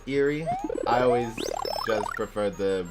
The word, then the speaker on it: Eerie: believe I'm 99% positive they're called I like eerie well maybe that is the proper pronunciation is eerie I always just prefer